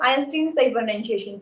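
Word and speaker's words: Einstein: लेकिन modern physics की बात करें तो आपके आइंस्टाइन है। आइंस्टीन जिसे बोलते हैं, आइंस्टाइन बोलो या आइंस्टीन बोलो, आइंस्टीन सही प्रोनाउंसिएशन।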